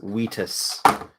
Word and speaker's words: Vitus: fancy he is fancy his name is the vitus v-i-t-u but uh because i'm a nerd and i'm gonna pronounce the actual latin it's wetus because that's how i do things in this household so i like this